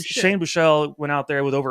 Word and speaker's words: Buechele: Shane, I always pronounce his name. You might know Shane Buechele, like Bobby Boucher, right? But Boucher. Shane Buechele went out there with over 100 yards passing on the game.